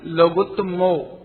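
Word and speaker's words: लोगुत्तमो: ये दूसरी गलती, लोगोत्तमा नहीं बोलना है, लोगोत्तमो।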